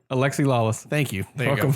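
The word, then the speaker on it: Alexi Lalas: Alexi Lawless.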